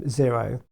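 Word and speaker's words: Xero: our clients to use is zero which is spelt xcr oh it's a very good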